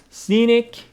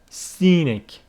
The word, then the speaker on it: scenic: hear it's very Scenic Scenic means very very beautiful to look at with very beautiful scenes in it Scenic you see with the stress on the first syllable Scenic Scenic surrounded by views and